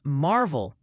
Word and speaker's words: Maryville: Triana, alas, is apparently Triana, and Maryville, Tennessee is Marvel. Just looking out for you, Chief. That's like the 5th way that I've heard on how to pronounce that. So I'm sticking with Merville.